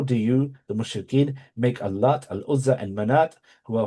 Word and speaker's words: Al-Lat: With regard to Al-Lat, Al-A'mash used to place stress upon it, the letter Ta, whereas the other reciters lightened it.